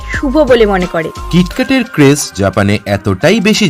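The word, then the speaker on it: キットカット: পেছনে রয়েছে কিটক্যাটের নাম আসলে জাপানে কিটক্যাট কেটোকাটো প্রোনাউন্স করা হয় যার সাথে জাপানি শব্দ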